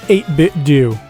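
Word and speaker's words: 8BitDo: Also, it is pronounced 8bit do.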